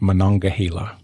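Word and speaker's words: Monongahela: I think the river that you started with is pronounced Manonga.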